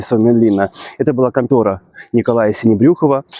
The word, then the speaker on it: Sinebrychoff: Но, как мы понимаем, что фины не могли нормально произносить фамилию и произносили не синебрюхов, как надо, а синебрюков.